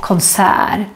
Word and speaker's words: konsert: But the most common way to say it, at least here in Stockholm, is konsert. So as you can see, it's not written the same way as how it is pronounced.